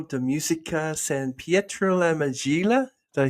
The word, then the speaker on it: Majella: So Stella is a graduate from the Conservatorio de Musica San Pietro la Majella. Did I say it right? Majella.